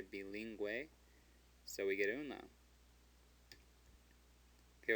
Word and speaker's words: bilingüe: Bilingüe. Bilingüe. What would it say if we didn't put that umlaut there? Well, if it's a U that's between a G and an E without an umlaut, it's silent.